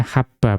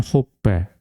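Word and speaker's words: حَبَّ: Ya, berarti dibacanya habba bukan hubba.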